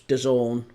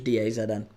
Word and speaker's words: DAZN: Um, I only know that it was Don because of Eddie Hearn pronouncing it that way. I thought it was Dazn.